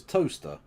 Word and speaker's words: Towcester: And Towcester is Toaster.